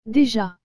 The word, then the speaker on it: déjà: déjà et non de ja cela parce que le e est accompagné de cet accent aigu vous avez aussi remarquer que la lettre des suivis de la lettre e avec cet accent doit se prononcer d et que la lettre j avec le à se prononce ja donc toutes ces lettres ensemble donne déjà voici maintenant le deuxième mot